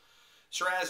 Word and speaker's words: Shiraz: Shiraz in Australia, by the way, that's how they pronounce it.